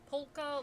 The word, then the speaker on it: polka: I never pronounce the L though. It's polka.